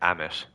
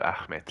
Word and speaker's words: Ahmed: other people pronounce it some people might call you like Amish instead of Ahmed like kind of the